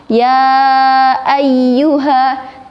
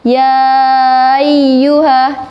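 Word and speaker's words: يا أيها: bacanya itu jelas contohnya ya ayyuha Tapi karena kita terlalu terburu-buru maka seakan-akan Hamzah itu tidak ada yang seharusnya dibacanya ya ayyuha tapi malah ya you hah nah samar-samar Kedengarannya hati-hati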